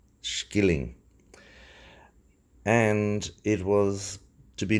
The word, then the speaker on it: shilling: It was to be based on the old Irish shilling, which is pronounced skilling, and it was to